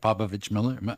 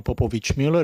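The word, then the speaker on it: Popovich Mueller: time uh you representative papovich Miller am I saying it right thank you Mr chair I I'm my name is popovic Mueller and yes due to frequent practice you are doing great at pronouncing the last name I'm going to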